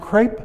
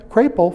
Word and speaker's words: Crapo: and now we have mike crape crapo from idaho you have to be careful how you pronounce that it's the new ranking